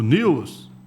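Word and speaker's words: Newell's: e Os argentinos do News escreve Newells né mas ele lá eles pronunciam News Old Boy deve vencer esse jogo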